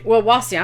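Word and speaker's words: Wawasee: Wawasi.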